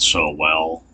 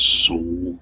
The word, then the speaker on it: Sowell: name was anthony solo he pronounced it so well um i've heard it pronounced but he was a court as sool or saul or it's it's been pronounced several different ways but i'm going by the way he actually pronounced his name now the reason that